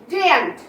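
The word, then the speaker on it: daren't: Okay, next, ডেয়ার নট নট, ডেয়ান্ট। ওকে, এখানে কিন্তু আর এর সাউন্ড আসবে না, তাহলে ডেয়ার নট যার কন্ট্রাকশন করলে প্রোনাউন্সিয়েশন হয় ডেয়ান্ট।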